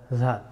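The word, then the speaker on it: ذال: The letter of dal pronounced from tip of the tongue touching root of the front two teeth. Da, di, du. Da, di, du. Adda. Za, za, za, zal.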